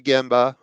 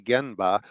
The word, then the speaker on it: genba: from my lean friends go to the gimba or pronounce correctly genba which means the actual